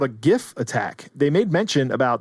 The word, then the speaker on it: GIF: how to pronounce GIF I'm going to pronounce it gif with a heart G until the day I